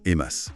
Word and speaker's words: EMAS: On prononce bien EMAS. Oui, c'est ça.